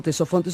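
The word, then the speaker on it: Ctesifonte: van a conocer como tesofe se escribe con con c y con t le decimos tesofe que en griego significa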